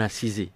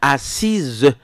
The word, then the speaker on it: assise: Bonne année, bonne assisée. J'ai dit on dit pas bonne assisé grosse tête là c'est pas comme ça. Bonne assise.